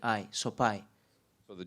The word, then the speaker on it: Sopaj: so people were confused it's soai in Albania the J uh in the end it's like I soai so the J belongs